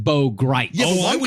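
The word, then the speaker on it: Bo Gritz: Bo Grits is an interesting character, but it's pronounced Bo Grite.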